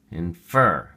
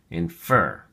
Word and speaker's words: infer: look at your flashcard infer has two syllables and the emphasis or stress is on the second syllable infer infer it is only a